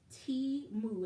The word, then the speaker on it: Temu: the Super Bowl the company whose name is pronounced T moo is actually spelled out phonetically on their website